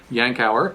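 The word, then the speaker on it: Yankauer: are the yankow suction yanow is how you pronounce this we have the plastic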